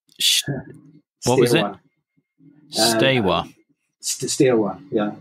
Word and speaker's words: Steaua: Steaua, yeah. It's think of it Steaua as in Steaua claiming a set of stairs and W then Steaua.